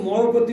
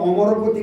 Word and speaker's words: অমরপতি: হয় তো সেই অমরপতি হ্যা না বলে অনেকে মরপতি মরপতি বলছে মানে উচ্চারণ জানে না বলে শুদ্ধ সংস্কৃত উচ্চারণ